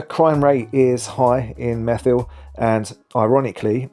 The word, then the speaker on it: Methil: The crime rate is high in methyl. And ironically, in a place where the first syllable is meth, there are issues in